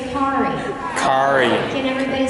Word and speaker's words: Kari: can everybody say Ki Cari can everybody say Ki Ferrari Ki Ferrari spread the word tell your friends it's Cari car like Ferrari so yes Miss mispronounced